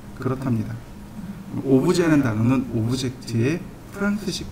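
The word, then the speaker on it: objet: 오브젝트를, 그러니까 물체를 미국식 발음으로 오브젝트라고 하고 프랑스식 발음으로 오브제라고 합니다.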